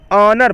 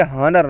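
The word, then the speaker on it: honour: ऑनर पढ़ेंगे, हॉनर नहीं, ठीक, तो एच साइलेंट है इसमें।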